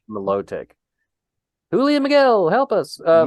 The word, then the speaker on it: Milotic: with my lodic melodic melodic I always thought it was melodic but I've heard I say melodic Milotic Julia Miguel help us